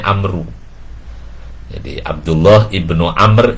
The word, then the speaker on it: Amr: wa-an Abdullah Ibnu Amr kalau ada baunya ini Amber kalau dia jadi bacanya Amru Hai jadi Abdullah Ibnu